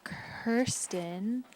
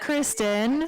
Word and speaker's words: Kirsten: Next is Kirsten, not Kristen. Just got done saying that I answered Kristen, and there I am. There I am, identified as Kristen on the board. So it is Kirsten, unlike how it's spelled here.